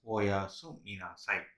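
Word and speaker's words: おやすみなさい: So we have to pronounce it as oyasumi nasai.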